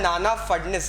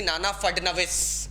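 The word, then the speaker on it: नाना फडनवीस: Pronunciation Mahadji Scindia है, एंड नाना फडनिस यहाँ पे दिया है, बट इट was actually नाना फडनविस।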